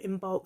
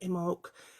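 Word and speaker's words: Imbolc: beginning of february and it's spelled i n b o l k some people call it in bulk some people call it imok it doesn't matter and if you say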